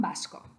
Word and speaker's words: vasco: We don't pronounce a V in Spanish. It would be pronounced like a B.